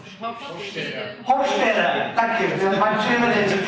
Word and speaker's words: Hofstede: And for anybody that speaks German here, if they can help me with the pronunciation. Hofstede, thank you.